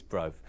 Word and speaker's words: Brofe: We were discussing earlier, I may be mispronouncing his name, it may be Brophy, but I think it's Brofe.